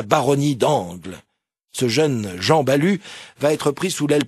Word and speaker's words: Balue: veux parler d'un certain Jean balu oui ce nom s'écrit B l u e cet homme est né